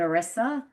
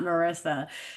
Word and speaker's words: Arissa: I've never heard of an Arissa, and I like it because it's like Larissa.